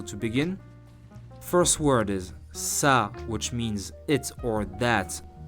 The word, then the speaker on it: ça: First word is ça, which means it or that. Very useful word. Listen again and repeat 3 times. Ça, ça, ça.